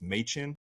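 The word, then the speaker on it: Mädchen: Her name's spelled Madchen, but I saw that it's pronounced Machen.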